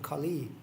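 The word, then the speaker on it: Kali: Lord Shiva is called Khali yeah with long e so not not the same as KH because that is a short e and that means you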